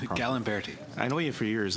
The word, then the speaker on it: Gallimberti: how do I pronounce your last name? Gallimberti.